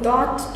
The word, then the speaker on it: dort: Rồi từ cuối cùng là dort. Dort là như ở đó. Và ở đây sẽ là here. Nhưng hôm nay mình sẽ học mỗi dort thôi. Phải nghe cái T ở trong cái từ đấy.